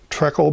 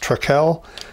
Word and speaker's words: Trekell: brushes this week you've heard me talk about Trek old brushes that's how I pronounce that I found out this week it's pronounced truck l TR e ke double L and so I've